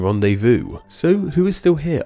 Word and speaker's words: rendezvous: X in foe, and a silent Z in rendezvous.